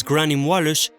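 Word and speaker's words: Gráinne Mhaol: rules gray Somali in English or in Irish pronounced as grannymwalis was the daughter of the chief of the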